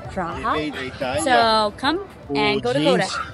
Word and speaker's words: Prague: in the US so if you come to Prague you have to go to Kota it's a